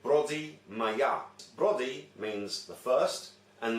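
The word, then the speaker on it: Πρωτομαγιά: Now, in English you would say the 1st of May, but in Greek you would pronounce it Brodi Maya.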